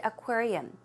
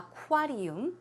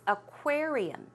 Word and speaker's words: aquarium: aquarium now here lissa pronounce the word aquarium it's not a quater uni it's aquarium aquarium one more time aquarium